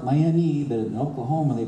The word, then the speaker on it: Miami: And then you got to Miami. I know it looks like Miami, but in Oklahoma they pronounce it Miami, and conservative thinking then and now.